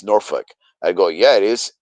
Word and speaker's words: Norfolk: It's Norfuck." I go, "Yeah, it is. The L is silent." Norfolk. It's Norfuck. Norfuck. Norfuck. Or or or Norfolk. Right. But I say Norfick, like more of an E sound.